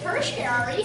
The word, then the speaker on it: tertiary: So it's called the third level consumer or tertiary consumer. They basically mean the same thing. Tertiary. It's spelled T-E-R-T-I-A-R-Y.